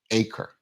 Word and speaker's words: ACRE: Williams coming on from they call themselves acre that's how it's pronounced people were on me about that all weekend but we got it right today akre folks let's bring Mari